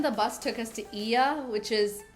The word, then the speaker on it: Oia: Then the bus took us to Ia, which is it's spelled like Oya, but it's pronounced Ia, which is where you see the iconic blue domed churches.